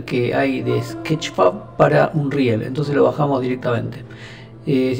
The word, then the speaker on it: Unreal: me di cuenta que yo siempre lo pronunciaba mal, porque yo decía Unreal y en realidad la forma correcta de pronunciar esto es Unreal, como vi que dicen todos.